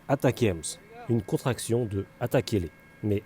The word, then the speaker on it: ATACMS: qu'est-ce que ça change en anglais on prononce attacks une contraction de attaqules